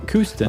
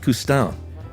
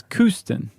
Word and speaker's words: Kooston: Kooston. I thought it was Coustin. No, that's what you want it to sound like when you're French. No, this is Kooston. Oh, okay. Like Houston? Exactly, but with a C instead of an H.